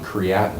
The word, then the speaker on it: creatinine: And they measure dilution on creatinine. Did I pronounce that right?